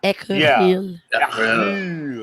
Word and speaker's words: écureuil: Okay, before I do that, this is how you say squirrel in French. Écureuil.